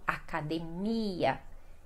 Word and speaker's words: academia: Então, academia, que o acento mais forte fica no mia.